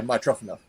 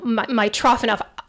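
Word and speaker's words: Mitrofanoff: right Ty's enough okay what is the actual pronunciation uh my trough enough wow my trough enough I think we got it so do you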